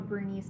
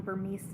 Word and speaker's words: Bernese: people try to call him a bernice mountain dog i get comments all the time that people own burmese mountain dogs which is weird because they own one so i don't know why they're saying it wrong what dog trainer did